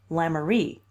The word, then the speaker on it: Lemaire: Michael, and my house is in Lemaire Street, pronounced in Kingsport Lamourie, as you have been so civil as to find out.